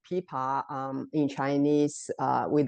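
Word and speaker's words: 琵琶: a in Chinese you know spelling is a p i pa but that's just the sound u in Chinese we if we precisely correct pronunciation is pipa uh it's not pipa it's a pipa um you see it's act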